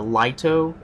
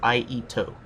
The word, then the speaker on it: Iaito: it is the iito a lot of people pronounce this weapon as the liato and that gets on my nerves it is not Lio it is IO it's a katana we